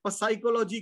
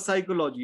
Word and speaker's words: psychology: So then he says, PSY, psychology, kyu nahi? Now the P is silent there. So it's not psychology, it's psychology, physiology, psychiatrist, psychic, right?